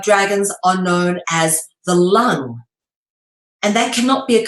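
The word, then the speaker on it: 龙: long and they and you even pronounce it the same way as this L all right with a u sound L not Lang or long with a o you pronounce it the same freaking way which is lung all right is in the air in your lungs that is how that word is said sometimes with one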